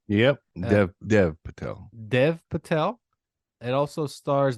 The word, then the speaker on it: Dev Patel: story of Henry Sugar by Wes Anderson starring Dave Patel is that his name right yep Dev Dev Patel Dev Patel it also Stars Benjamin damn it